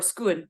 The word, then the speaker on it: scone: actually talked about that, whether it's scone or scone. That has to do with whether or not you, or scoon if you're Scottish, because that is the that's the original pronunciation, which comes from Scots.